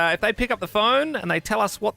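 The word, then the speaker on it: phở: Oh, this is like really out there, so I'm Vietnamese myself, so I'm just going to say pho. A bit of pho. Nice. Yeah, some people say pho, but of course pho. is the right way to say it.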